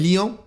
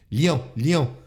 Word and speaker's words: Lyon: It's not, and for such a short word, which I feel is it's easy to pronounce, Lyon. It's like lion, Lyon.